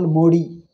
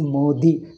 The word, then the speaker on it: Modi: minister is wrongly pronounced they call modi it is not a d it is modi because we write our